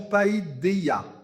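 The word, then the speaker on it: paideia: culture, qui s'appelle la païdéa. Alors, je vous le propose comme ça. Il y a plusieurs lectures, prononciation, païdéa. Voilà. Vous le dites, c'est celle que je choisis.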